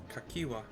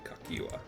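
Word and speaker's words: Cahciua: I'll pretend that middle C is a K. Kakiwa.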